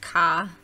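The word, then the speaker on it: Cae: Alrighty, I am now here at, I believe it's pronounced Ka, C-A-E.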